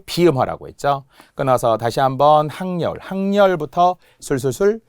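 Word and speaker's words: 학여울: 자, 결국은 큰 원칙은 표준 발음법에 따라 적는다인데 다시 한번 발음이 전제되어야 되기 때문에 신문노가 표준 발음이라는 걸 알아야 되고 항려울이 표준 발음이라는 것을 알아야 하는 거잖아요.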